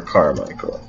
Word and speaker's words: Carmichael: It's Casper Carmichael. Carmichael spelled like Michael with a car.